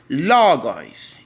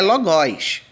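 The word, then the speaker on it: λόγος: mais forte tá bom Ó Logos e não é logoz logoz Ou logo aí e sim Logos Logos Logos Logos educativo Claro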